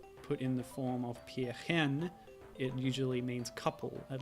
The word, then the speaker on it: Pärchen: Pärchen. It might be slightly different in Austrian dialect, but... Oh, these are affecting my jump physics. Oh, okay. Yeah, so Pärchen is a word that is a sort of